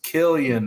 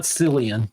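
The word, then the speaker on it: Cillian: stalling all right his his name is Killian Murphy Killian Murphy not selan but Sil killing I'm so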